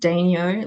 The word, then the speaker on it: Daignault: It's pronounced Daignault, like Renault, the car brand.